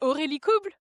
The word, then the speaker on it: Aurélie Couble: I think in French we'll say Aurélie Coble, but then in English it's definitely like Aurélie and Coble.